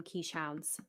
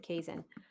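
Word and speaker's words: Keeshond: A lot of people call them quiche hounds, but you pronounce it Kazan.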